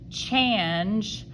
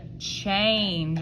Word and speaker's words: change: What does A usually do when it's next to an N? That's right, it gets whiny. It goes eh, but we don't say change. We don't say it like that. We say change, okay?